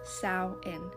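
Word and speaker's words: Samhain: pissed off videos telling you how to pronounce sin I have no idea why people are so mean on the internet so let me be the nice video to tell you that it is pronounced sa in sa sa is a holiday with a really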